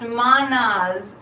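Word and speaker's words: Mannaz: Okay, this is pronounced Manaz.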